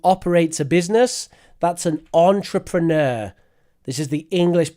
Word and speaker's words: entrepreneur: A person who operates a business, that's an entrepreneur. This is the English pronunciation.